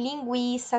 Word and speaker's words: linguiça: antigas antes de 2009 palavras aparecem muitas vezes escritas com trema como pinguim linguiça sagui hoje em dia nós não faz o escrevemos mais com a tema apesar de sabemos que a pronúncia continua de gwi então resumindo e recapitulando